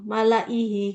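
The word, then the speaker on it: مَلَئِهِۦ: Dopnya gini, ada ini panjang, malaihi gitu ya. Kalau di situ pakai apa Bu tandanya? Kasroh panjang ya? Panjang ya, Iya. Ya. Ya, jadi bacanya kayak gitu. Semua tulisan malaihi, hi-nya panjang. La-nya dibaca pendek.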